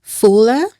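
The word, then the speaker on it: Fula: Fuller, French, Wallof and English. Do I have the right pronunciations?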